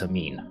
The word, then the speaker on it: Amin: delivered was to house Amin the purple colored bannered sorry the purple colored banners uh this is one of the five houses of the city specifically this is house am I n pronounced ami Perfect.